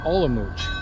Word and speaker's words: Olomouc: And I've been saying it wrong again the whole time. I just googled it. So it's called Olomouc.